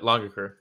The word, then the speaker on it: Langaker: we had Rotolo versus langaker is that how you pronounce it uh longer curve longer so it's like long l-o-n-g but with an a got it all right